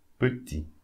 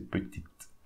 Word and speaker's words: petit: Petit, we don't pronounce the T. We don't say petite. Petit. IA, as we said previously, so E.